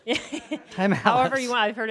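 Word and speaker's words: Thymallus: Oh, so it's Thymalis. Thymalis.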